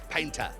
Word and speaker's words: Payntr: that allow you to get faster over time it's spelled p-a-y-n-t-r Pinta it's a golf shoe and it's worn by